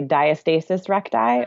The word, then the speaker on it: diastasis recti: So there's two ways to say it. You can say diastasis recti or diastasis recti.